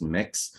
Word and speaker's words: Mx: commonly hear folks use is mx pronounced mix and so with that